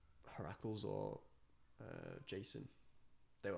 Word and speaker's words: Heracles: Hercules isn't an actual name. It's Heracles. Heracles.